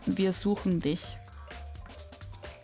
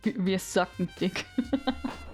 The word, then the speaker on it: Wir suchen dich: It's actually just pronounced Wir suchen dich. But I get how it would be hard for non-German speakers. I think like in the video they pronounce it more like suck, right? like wir sucken dick. Isn't that how they pronounced it? But no, it's just wir suchen dich.